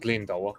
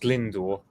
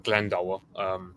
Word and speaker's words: Glendower: I've already pronounced Glyndor or Glendower. Glendower is the way I say it, but I don't pretend to speak native Welsh, so neither do I. So Glendower. What happens is the guy is a good.